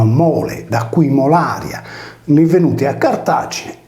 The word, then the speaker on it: Molaria: Molaria, con il nesso R più I più vocale, si leggeva Mularza, come chiamata in sardo, italianizzata in Mularcia.